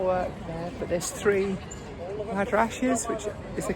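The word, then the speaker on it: madrasahs: Don't if you can see that awesome sort of like phoenixes on the tile work there, but there's three madrashes, which is the correct pronunciation for old schools or colleges.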